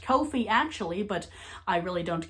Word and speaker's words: Ko-fi: It's pronounced Ko-Fi actually, but I really don't care because I've been saying Ko-Fi so much by this point, it's just stuck in my brain.